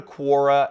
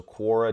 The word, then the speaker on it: Quora: as well okay so we're gonna go to Korra and Quora is the site it's spelled qu o ra right there so Cora dot-com and you can just go to it